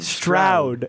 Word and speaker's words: Stroud: Stroud. It's Stroud. not Do you not watch Strauss.